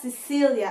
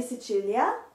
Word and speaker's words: Sicilia: in and it's not cecilia in italian in italian it's pronounced sicilia so pasady mandola de sicilia mandala in english is